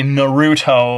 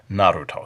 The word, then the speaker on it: Naruto: notice I don't say Naruto I just can't say it that way the Japanese pronunciation is more or less Naruto so we're going to